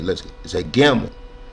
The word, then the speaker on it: gimel: Let's say gimel, as in ga, or as in gia, and get, right?